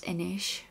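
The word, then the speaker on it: anois: they should for example the word inish which means now is spelled a n o i s so it looks kind of like a noise I think for me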